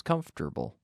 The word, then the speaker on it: comfortable: comfortable make yourself comfortable we say that with three syllables comfortable make yourself comfortable relax